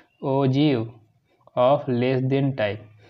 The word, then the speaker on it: ogive: इसको दूसरा नाम क्या है इसका, ओजीव, OGIVE, क्या प्रोनाउंसिएशन इसका, ओजीव।